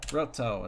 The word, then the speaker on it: Roto: Roto is how you say his name.